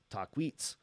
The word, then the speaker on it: Takwis: the camp of the taquis pronounced the same as talk Wheats known to the chahula